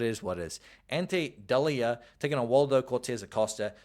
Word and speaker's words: Delija: Then we have Waldo Cortez Aosta taking on Ante Delija, and I think it is pronounced Delija, but I want to say Delija so damn bad by reading it.